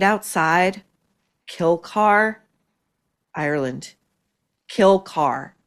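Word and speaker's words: Kilcar: Kill car. It's spelled K I L C A R but it nonetheless is Kill Car.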